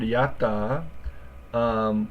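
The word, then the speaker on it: やった: So this word, yatta, we could think about as two syllables. It's kind of hard to say the first one. The first one, in this case, kind of sounds like yat, and then the second one is ta.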